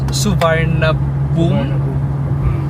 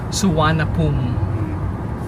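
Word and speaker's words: Suvarnabhumi: ' ba parang yung spelling is parang suvarnabom pero ang pronunciation is suapum yan na tayo sa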